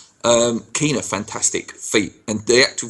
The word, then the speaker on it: Quina: Oxford or is it Quina? Is that how you pronounce it? Keena. Keena, fantastic feat, and the